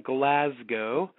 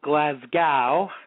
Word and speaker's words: Glasgow: They are in Glasgow, not Glasgow, as some Americans say.